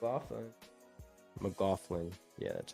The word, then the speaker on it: McLaughlin: uh the little point guard is it uh McCullum something like that and then uh and then Knight in there as well it's awesome McLaughlin yeah that's how you say it Alexander yeah